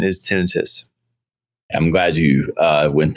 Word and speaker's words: tinnitus: to specialize in um tinitus which is often pronounced tonitis uh ringing of the ears. Both pronunciations are okay. Most of the world says tenitis, but the correct pronunciation is tinitus.